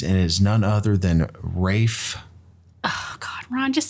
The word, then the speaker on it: Ralph: my words when you when you Google Ralph finds pronunciation that it says Rafe well okay R A